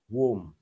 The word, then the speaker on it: womb: chữ u luôn ha, ghi là o mà đọc là wo, u, womb, womb, giống như trong kinh Kính Mừng chúng ta đọc với nhau.